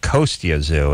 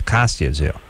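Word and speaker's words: Kostya Tszyu: He doesn't pronounce it Kostya Zoo, it's Kostya Zoo.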